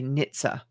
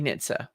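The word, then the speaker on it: NHTSA: don't say n-t-s-n-t-n-h-t-s-a i don't say that i say nitza right we all know what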